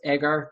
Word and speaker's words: Augur: Hey, Paul, did I pronounce Augur correctly?